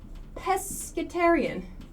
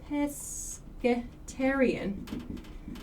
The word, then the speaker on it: pescatarian: plants everything great omnivore vegetarian vegetables one more pescatarian oops pescarian pescatarian for maybe French speakers uh pesc pesc